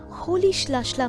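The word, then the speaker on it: Rolihlahla: nelson mandela mr nelson mandela's childhood name was holish lashla mandela the spelling starts with the letter r but its pronunciation isn't roli halahala as you might think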